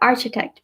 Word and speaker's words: architect: architecture and it's not architect because it's your spelling derecho a are c-h-i te si T so that's architect CH makes a cut sound like a K there's also genuine not